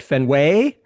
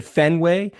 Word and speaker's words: Fenway: ever done that at Fenway." like his emphasis is totally on the wrong like it should have been fenway the hard syllable on the first syllable but he says fenway which tells me that